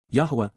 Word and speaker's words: Yahweh: narrow path to get the most joyous life Yahweh Yahweh the proper pronunciation of the name of eloah God as